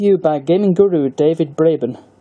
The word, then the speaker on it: Braben: by gaming guru david Braben yes as you mispronounced blabbin not the Apple Bradman v2000 plunges you